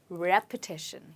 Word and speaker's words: repetition: you need you need repetition yes try it again repeat after me repetition did you hear I said repeat and repetition well both of them have different pronunciation okay let's look at